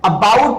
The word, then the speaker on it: about: जैसे यहां पे है अबाउट, तो हम यहां पे जोड़ देंगे. अ को बहुत धीमे बोलेंगे, अ को बहुत आसानी से बोलेंगे, अ को बहुत आराम से बोलेंगे और बी पे जोड़ देंगे.